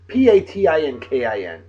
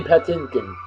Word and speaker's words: Patinkin: a whoa man's name Mandy Patton Patton Patinkin p-a-t-i-n-k-i-n Patinkin I've never known how to pronounce his last name all I know is